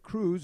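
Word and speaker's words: Croes: The spelling is C-R-O-E-S. The Dutch island, of course. Got a lot of Dutch names on the team, but pronounced Cruz.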